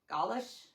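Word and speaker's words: Gaulish: Galish. Yeah. Galish like Gway probably. G A U L I S H.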